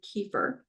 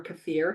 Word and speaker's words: kefir: Um, so he's experimenting with swishing his mouth with unsweetened plain kefir, um, or kafir, however you want to pronounce it, then eating a piece of raw celery.